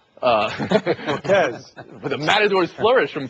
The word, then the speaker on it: Volquez: I like the Volquez, the second syllable. Volquez.